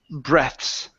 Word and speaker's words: breaths: There is not a vowel after the TH in before the S. This is breaths.